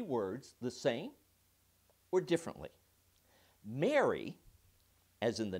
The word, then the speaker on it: Mary: would you marry me many people would argue that there is no difference whatsoever in pronunciation it's mary mary mary others believe mary the name and mary the matrimonial thing are pronounced the same but mary happy is totally different i would tend to agree with that and some say all three are different fine enough but i